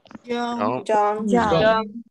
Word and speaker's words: young: Young. Okay, listen to the pronunciation.